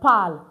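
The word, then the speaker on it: parlent: And for ill l which is a plural form for that's the il l pal not ill l palon. Please, we don't pronounce our entire French verb to what do we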